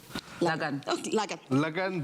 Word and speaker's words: lagan: which is sweet corn lagang that's logan basically means wedding but the a is pronounced long the cake it's the